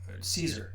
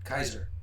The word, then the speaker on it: Caesar: like uh they didn't actually have the the it was a C and the C didn't have S sound because they already had an S so it was spelled with a Kaiser um sound.